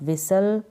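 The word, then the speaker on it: whistle: व्हिस्पर का मतलब है आप विसल विसल मतलब ट ट बजाना थी यहां पर साइलेंट है विशाल में और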